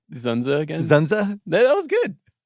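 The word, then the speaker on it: Dzundza: this or Basic Instinct can you just say zenza again zenza that was good George zenza I mean his name is spelled dzu n dza yeah great name good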